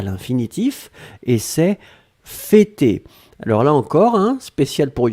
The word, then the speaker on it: fêter: F-E, accent circonflexe, T-E-R. D'accord? Fêter, et on prononce bien le pour l'accent circonflexe.